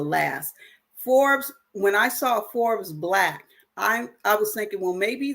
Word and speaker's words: Forbes BLK: think about joining, is Forbes Black. So Forbes, like the magazine Forbes Black, but it's spelled Forbes BLK.